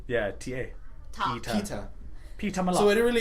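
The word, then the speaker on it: Peeta: By the way, how do you pronounce his name? Who? Is it Peter or is it Peta?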